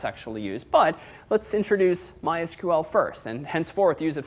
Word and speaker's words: MySQL: see how that's actually used but let's introduce MySQL first and henceforth use it for the remainder of the class so MySQL is it oh and I actually called MySQL